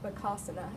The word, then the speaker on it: Bakasana: And the most basic one that you can start off with is Bakasana, or Bakasana is how they actually pronounce it.